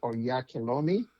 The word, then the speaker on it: Oyakhilome: Obviously, because you know, my last name is is pronounced Onyekolom, right?